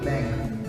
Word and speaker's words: length: to be talking about length now say after me length length notice the sound at the end because of the th all right length length